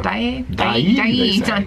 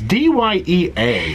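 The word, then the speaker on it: Dyea: Dye. It's D-Y-E-A. So Dye. I never knew how to pronounce it. I'm taking Steve Height's pronunciation.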